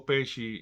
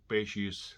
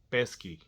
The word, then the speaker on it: Pesci: purpose or he really didn't know how to pronounce Joe Pesci's last name so I kept calling him pesky Mr pesky Mr pesky here Mr pesky there